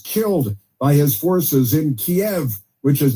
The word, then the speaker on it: Kiev: of uh protesters killed by his forces in Kiev which is not pronounced Kev.